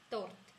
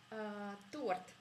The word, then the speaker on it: Торт: En russe, il n'y a pas d'exception comme en français quand on ne prononce pas beaucoup de lettres qui sont à la fin des mots. En russe, on prononce toutes les lettres qu'on voit. Il n'y a presque pas d'exception. Donc vous voyez 4 lettres, vous prononcez 4 lettres.